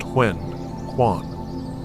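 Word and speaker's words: 玄关: This crucial area, often called the foyer, or in fune, the huen kuan, pronounced hwen kuan, isn't just a place to hang your coat.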